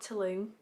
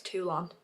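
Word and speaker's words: Toulon: say it it's definitely it's definitely not Tulum tulon everyone keeps saying that and I'm like no that's Tulum in Mexico I'm pretty sure it's tulon I could be wrong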